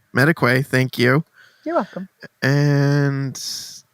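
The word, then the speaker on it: Madekwe: I wish I knew how to pronounce his last name. It's Mediquay. Mediquay, thank you.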